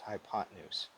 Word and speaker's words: hypotenuse: the hypotenuse you guys hypo 10 use pronounced hypotenuse side c is the